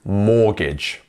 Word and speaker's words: mortgage: that we have the te here which can be a bit confusing because it's not mortgage but it is mortgage so miss out that te completely so yeah make sure